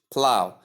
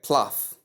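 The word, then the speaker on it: plough: P L O U G H plow and again right here G H is silent. Some do call this word pluff or or plow. Whichever way you pronounce it other than plow is 100% wrong and you should take note of that.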